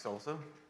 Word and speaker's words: SLSA: getting that wrong um pronounced like salsa they have their own